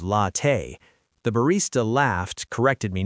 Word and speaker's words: latte: But I pronounced latte wrong, lady instead of latte.